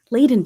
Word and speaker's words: Layden: Layden, did I pronounce that correctly?